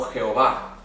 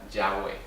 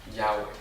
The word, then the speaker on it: Yahweh: Ellos insertaron las vocales de Adonai abajo de las consonantes y así nos llegó como Jehová, cuando el nombre de Dios es en realidad Yahweh, o se pronunciaría Yahweh.